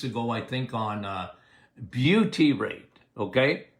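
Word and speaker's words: butyrate: couple of weeks ago I think on uh Beauty rate okay how do you spell it bu t uh y r a t what is beauty rate okay well butter makes buty rate very anti-inflammatory very good for your microbiome when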